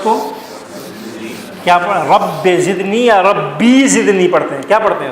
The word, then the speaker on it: ربی زدنی: حالانکہ یہ کیا ہے؟ رب ہے. اصل میں یہ کیا ہے؟ ربی ہے.